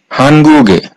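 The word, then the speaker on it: 한국의: সমান এ হয় অর্থাৎ এই উইটা যদি কোন শব্দের শেষে বসে তাহলে এই উ এর উচ্চারণ হবে এ।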